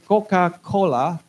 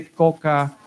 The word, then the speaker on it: Coca-Cola: You don't say Coca-Cola, but you have to say Coca-Cola. There you go. Cola, like that. Last syllable is very important. Coca-Cola.